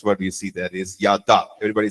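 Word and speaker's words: ידע: you see there is yada. Everybody say yada. One more time. Yada. So give a little more stress to the second syllable, D, okay? Yada.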